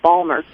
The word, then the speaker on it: Baltimore: And in Baltimore, we call it Balmer. Baltimore.